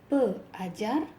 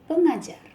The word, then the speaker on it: pengajar: With prefix pe, you need the sound eng in between to make it easier to be pronounced. So instead of pe ajar, it is pengajar.